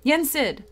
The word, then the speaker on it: Yen Sid: to pronounce his name but it's Disney spelled backwards so like Disney it is Ned I don't know whatever Yen Sid that's it Yen said I could